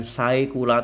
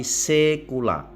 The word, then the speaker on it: saecula: Lalu ada ai tu bukan saecula tapi sekula ae dibaca e&c kuorum begitu juga